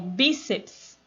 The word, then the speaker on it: bíceps: Você vai dividir as sílabas. Bíceps, porque não pode ter uma sílaba só com consoante. Então, o ps vem junto com o C. Bíceps. E aí você tem, qual que é mais forte? É o bi.